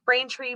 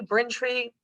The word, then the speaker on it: Braintree: is louisa braintree wayland if i can say braintree bring tree there's a couple of different ways to pronounce it she's also one